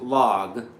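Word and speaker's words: LAG: It's an L A G. It's a French company, and I think it's pronounced log.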